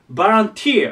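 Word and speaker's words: volunteer: ちゃおうかただしえっと読み方とアクセントがすごく大事でまず読み方の方がボじゃなくてバですですバから始まるで発音がバンティて言いますバンティ何が大事かアクセントが最後に来ますここバンティね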